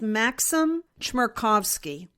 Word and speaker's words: Maxim Chmerkovsky: One was, I happened to stumble on the Instagram page of, I think it's pronounced Maxim Chmerkovsky.